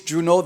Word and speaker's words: Junot: name in fact is June all that T is silent if you pronounce the T you're pronouncing my name wrong now here's the deal